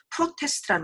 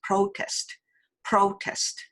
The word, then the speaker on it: protest: 그래서 프로테스트 이렇게 하면 한국말처럼 들리잖아요. 그죠? 그래서 프로테스트 우로 발음하셔야 됩니다. 그래서 protest 이렇게 발음하셔야 돼요.